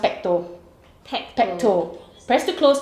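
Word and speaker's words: PPTO: feing feed the baby yeah correct so it's pronounced petto PTO petto press to close twist to open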